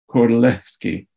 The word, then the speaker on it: Kordylewski: L-E-W-S-K-I, and because the Poles pronounce the W like a V in the same way that we say Wagner in German, Kordylewski. And they're known as the Kordylewski clouds because he discovered them.